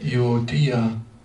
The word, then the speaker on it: Euodia: It's like Euodia. Let's see if they say. Euodia. Accent on the last syllable, Euodia.